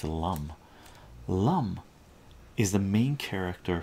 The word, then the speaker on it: Lum: And the character here, Lum, I'm not sure how you pronounce this, Lum or Loom, I believe it's Lum.